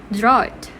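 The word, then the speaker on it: drought: hint for this word the right pronunciation for this word is draw it i repeat draw it so based on the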